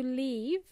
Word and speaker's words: leave: uh the other word to leave means they had it has a longer sounding e sound for example leave